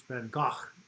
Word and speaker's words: Van Gogh: Vincent Van Gogh, or it's Van Gogh, is how, if you ever seen Woody Allen's Manhattan, that's how you pronounce it.